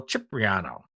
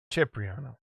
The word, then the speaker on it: Cipriano: These are 3D printed and sculpted by our very good friend, Tony Cipriano. Or as they pronounce it for real, Cipriano. Cipriano.